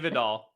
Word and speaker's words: Vidal: I say it like Gore Vidal. Yeah. Kamani Vidal, who I had so